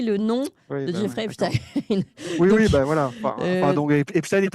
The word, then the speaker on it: Epstein: fais un petit aparté, moi je prononce Epstein, et il y a beaucoup de gens qui prononcent Epstein, j'ai jamais prononcé Albert Einstein, si vous voulez, hein, on prononce Albert Einstein. Et le fait de prononcer non pas Jeffrey Epstein, mais Jeffrey Epstein, c'est déjà un biais